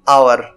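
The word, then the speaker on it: hour: তাহলে এইচের উচ্চারণ এখানে অ এর মতো হচ্ছে এবং গোপন আছে, এক্ষেত্রে আমরা এ না ব্যবহার করে এন ব্যবহার করব। এন আওয়ার, দেখো আমি যদি এইচটা বাদ দিয়ে দিই তাহলে এর উচ্চারণ কি হচ্ছে, আওয়ার।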